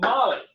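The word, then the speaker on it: Mahli: Well, Merari had two sons, Mushy and Molly. Like Molly Skaggs, okay? That's a big girl's name today, but it's spelled M-A-H-L-I, Molly, okay?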